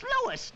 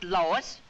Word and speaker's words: Louis: the plant lois lois my name is louis not lois chief whiz everybody in